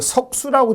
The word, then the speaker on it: 석수: 고구려하고 신라 관계를 보여주는 4번은 그 석수라고 읽거든요. 석수.